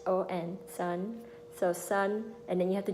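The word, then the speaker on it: Sơn: it does matter because the way you raise and you lower your voice it make a difference it will change the meaning of the name if you don't do it correctly so when you think of so I would imagine you can pronounce it like son like think of him like our son you can't live without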